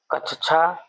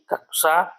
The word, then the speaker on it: कक्षा: हमारा अगला प्रश्न है प्रश्न संख्या 99 कक्षा शब्द का शुद्ध उच्चारण है कक्षा कच्छा कक्षा कक्षा कक्षा शब्द का शुद्ध उच्चारण है विकल्प सी कक्षा इसलिए विकल्प सी सही है।